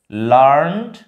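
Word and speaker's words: learned: হ্যাঁ, তো বিশেষ করে এই ইডি সহ লার্নের কিন্তু দুটা প্রোনাউন্সিয়েশন আছে। দেখো, LEARN, ইডি একটা হচ্ছে লার্নড, একটা হচ্ছে লার্নড আর একটা হচ্ছে লার্নিড। লার্নিডটা মেইনলি উচ্চারণ হয় তখন সেটাকে আমরা অ্যাডজেক্টিভ হিসাবে পাই, আর যখন ভার্ব হয় তখন লার্ন হয়।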